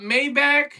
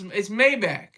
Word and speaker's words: Maybach: you pulled up with the red drop top Maybach. And I'm probably pronouncing it wrong.